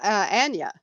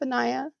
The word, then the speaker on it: Anaya: So you were calling Anaya Anya. I So was. that's not that that's not that far off, Anaya. I got I kind of, well, to some extent, I have the emphasis on the wrong syllable, That's okay.